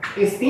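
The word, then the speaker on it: ἐστίν: Estin é acentuado na última sílaba.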